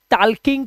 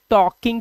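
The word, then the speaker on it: talking: सो आई एम नॉट सेइंग टल्किंग टू यू। आई एम सेइंग टॉकिंग टू यू।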